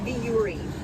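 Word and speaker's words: Vuori: called dory the fiori not voice sorry it's a viewery and it's spelled v-u-o-r-i and they're we're filming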